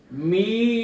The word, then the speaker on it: মিম: এদিক টানতে হবে, অথবা দুই ঠোঁট একটু চাপ দিয়ে উচ্চারণ করলেই মিম উচ্চারণ হয়ে যায়। সবাই দেখুন, মিম মিম, এবং শেষে একটা